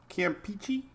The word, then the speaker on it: Campeche: Both pronunciations are correct. So I can say Campeche, because I like peachy.